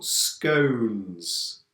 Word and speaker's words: scones: is this word yeah there are two pronunciations scums for some people or scones for other people now this is a